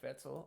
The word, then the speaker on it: Vetzal: on our line here we have mr vetzel of bravura thank you for jumping on am i pronouncing that right you know what i think